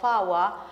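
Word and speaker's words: four: que se pronuncia naina el número cuatro faa eh Hay muchas palabras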